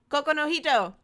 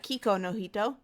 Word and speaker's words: Kokou no Hito: of spoilers this week we are talking Coco no hito not kee kono hito we were just talking